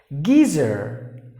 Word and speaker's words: geezer: genre Georgia Georgia Georgia geezer geezer remember there was a yes spelling but they have to pronounce it like a Z so geezer in the